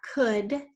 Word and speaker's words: could: could would and should and they are all spelled with the o you and then that silent L which is quite rare in English but it's there in all three of those words would could and should what should what good